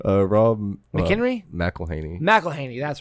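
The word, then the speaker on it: McElhenney: yeah a cameo from Rob how do you pronounce his last name uh Rob McKenry Melaney Mel Haney that's right um Rob melany's Cameo from Deadpool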